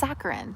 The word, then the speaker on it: saccharin: It's pronounced saccharin.